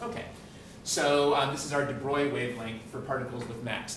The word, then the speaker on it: de Broglie: Uh, it doesn't look like it's pronounced de Bruy, but I think that's the right pronunciation.